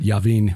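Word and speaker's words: Jabin: heard of this uh that's j-a-b-i-n but yavin would be the pronunciation this says uh j-a-b-i-s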